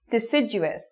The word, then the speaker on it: deciduous: Deciduous, deciduous.